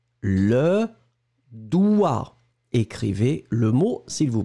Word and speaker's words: doigt: eaux il était d'accord mais on ne prononce pas le g et ça veut dire